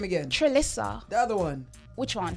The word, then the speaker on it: Trelissa: You're Trelissa.